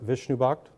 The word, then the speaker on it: Vishnubhakat: further ado I'd like to introduce uh Professor Vishnu bhakt first try got it right all right uh